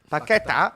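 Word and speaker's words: Paquetá: No, it's just, this is the thing with Paqueta now. If we're going to go and start playing Paqueta, are we going to? Sorry, I've got to do the accent. Paqueta, right?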